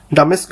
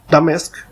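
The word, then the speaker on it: Damascus: ডামেস্ক বিজয় ডামেস্ক সঠিক উচ্চারণ ডিমাসক বাইজেন্টাইন সাম্রাজ্যের সিরিয় অঞ্চলের রাজধানী ছিল।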